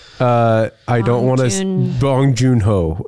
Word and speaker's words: Bong Joon-ho: Yeah, gosh, let's pronounce that. I always defer to Mitch. No. He retains names. I don't want to. Bong Joon-ho. Bong Joon-ho.